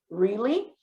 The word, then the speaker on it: really: Atenção que really, né? O EA aqui a gente faz I, né? O som, a pronunciation, the sound is I, really.